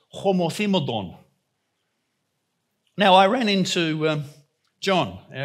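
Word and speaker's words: ὁμοθυμαδόν: And this word, well, some say homothymodon, but it's actually probably more correctly pronounced homothymodon.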